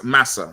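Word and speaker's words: Marse: It's saying it's like saying massa, not master.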